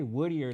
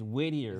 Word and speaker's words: Whittier: I always say woodier like wood, but it's wittier, right?